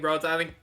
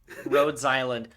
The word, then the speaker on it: Rhodes Island: Also, I kept saying Rhode Island. Fucking Arc Knight saved me. I can't stop thinking about it. Rhodes Island.